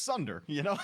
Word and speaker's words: Sunder: One thing can turn this Khepri pick around for me, and it starts with an S and rhymes with blunder. It's Sunder, throw a Sunder on that Khepri.